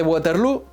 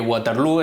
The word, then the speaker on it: Waterloo: ¿Está bien representada la batalla de Waterloo? Sí y no. En primer lugar, decir que Waterloo es la manera inglesa de pronunciarlo. En holandés, que sería como habría que pronunciarlo, se diría Waterloo, lo que demuestra una